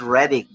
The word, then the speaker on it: Reading: know uh it's spelled as reading but it's pronounced here as reading oh got it yeah even metallica you know